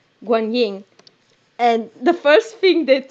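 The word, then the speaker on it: Guanyin: he's stuck waiting for wukong hokum goes to guangyang oh god pronunciation guan ying and the first thing that two of them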